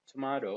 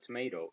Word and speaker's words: tomato: tomorrow of course it's it said tomato or tomato it's the same both are correct tomato or tomato it's it hits from